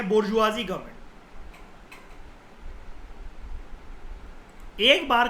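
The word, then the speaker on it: bourgeoisie: इसको बोर्जियोइस करके आपको लग रहा होगा, प्रोनाउंसिएशन जो होती है वो होती है बोर्जुआजी, ठीक है।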